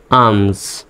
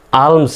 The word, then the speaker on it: alms: জ্বর মতো উচ্চারণ হবে আমস। তাহলে উচ্চারণটা হচ্ছে কি? আমস, ALMS, আমস, আলমস নয় কিন্তু আমস।